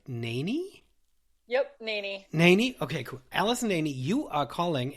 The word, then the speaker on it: Naney: and now I don't know know if I pronounce your last name right NY yep NY NY okay cool Alison NY you are calling